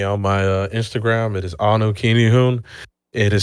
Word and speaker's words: Anukinihun: It is Anu Kinihun. It is spelled ANUKINIHUN.